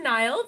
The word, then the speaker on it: Niall: Hi, I'm Niall. The A is silent.